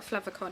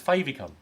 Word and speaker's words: favicon: I know what a flavicon is, but that's because Favy. a Flava. Flavicon. No. Flavicon. No, it's favicon. Favicon. Or favicon. Probably saying it wrong. But Favicon. think of it as favourite icon.